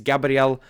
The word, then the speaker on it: Gabriel: And at number 2 is Gabriel That is exactly how you pronounce his name.